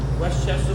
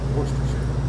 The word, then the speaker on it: Worcestershire: I'm gonna put a little bit of Westchester sauce. Worcestershire. You can never pronounce that right. Worcestershire.